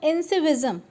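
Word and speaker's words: incivism: Now इंसिविज्म, तो इसका pronunciation देख लीजिए एक बार। सो इंसिविज्म, मैंने इसका प्रोनाउंस गलत किया था, इंसिविज्म।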